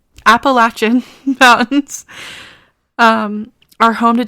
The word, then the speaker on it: Appalachian: The Appalachian I said it wrong. Appalachin Mountains um are home to dangerous critters.